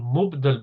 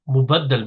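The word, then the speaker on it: مبدل: Badal will be the second word, and mubdal min. It's not mubaddal min, quite commonly mispronounced as mubaddal min. It's not from tabdil, it's from ibdal.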